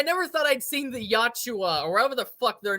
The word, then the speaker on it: Yautja: Like I never thought I'd seen the Yachua or whatever the fuck their names are. Fight, Yautja. Gotcha. huh? It's pronounced Yautja.